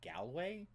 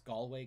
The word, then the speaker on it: Galway: when i heard it but some people do pronounce it galway and i had never heard that until like last year but it from everything i've ever heard it's galway girl oh what looks like they can't answer